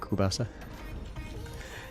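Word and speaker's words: ковбаса: Ukrainians pronounce it kubasa.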